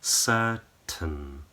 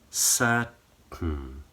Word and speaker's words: certain: So the jaws are relaxed, lips are completely relaxed. So there's hardly any shape in your lips. Tongue is in the very middle of the mouth. Certain. And the same for curtain.